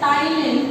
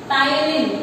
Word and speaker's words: ptyalin: This salivary amylase we also call it as ptyalin. P is silent, children, remember. Ptyalin.